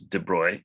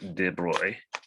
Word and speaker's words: de Broglie: all right and so this is de bruy the guy's name it's spell it looks like de broglie but it's french so it's de bruy like that interestingly i think there's